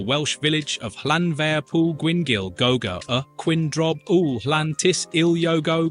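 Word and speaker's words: Llanfairpwllgwyngyll: If you think British place names are quirky, nothing tops the Welsh village of Llanfair Pŵl Gwyngyl Gogo Quindrob Ŵl Llantis Iliogo Gogoch.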